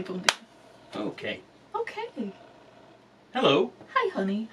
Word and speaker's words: bom dia: Look, I know the M is nasal, all right?